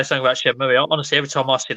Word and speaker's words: Shenmue: The thing is, though, the other half of people will call it Shenmue, and when they actually finally say it in game, which is right at the end of Shenmue 2, they say Shenmue. That blew my mind. Because no one says Shenmue.